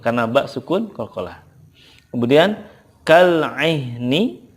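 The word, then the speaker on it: كالعهن: Kemudian kal-ihni, ketika waqafnya kal-ihn. Kal-ihn. Ingat ya, karena ha ini ada rohwah dan juga hamznya, maka sifatnya diberikan dulu baru gitu. Kal-ihn.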